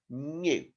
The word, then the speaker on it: knew: check the word new now it starts with a k then n e w so that new is the same as brand new but with that silent k that we learned about in front of it okay the next word